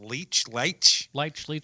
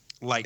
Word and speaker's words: Leitch: And David, how do you pronounce it? Leitch, sure. Leitch.